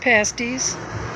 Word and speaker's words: pasties: we are eating pasties yes that's how it's pronounced pasties which is a traditional minors meal from up